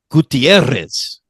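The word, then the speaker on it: Gutiérrez: Spanish pronunciation. All right. Mm-hmm. Gutierrez. Ooh, I like that. Yeah. Yeah. Really good. It's got the double R, so you're really supposed to roll that.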